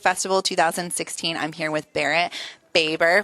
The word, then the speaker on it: Barrett Baber: I'm here with Barrett Baber, pronounced it correctly.